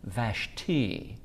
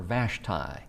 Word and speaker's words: Vashti: It's actually pronounced Vashti. Uh but we've grown up knowing or calling her Vashtai.